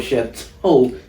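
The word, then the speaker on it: Château Élan: I mean, if you know, if you from here, you know where Chateau Elon is. You probably saying it wrong cuz you just said it like toe.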